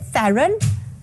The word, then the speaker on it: Theron: Is it Theron?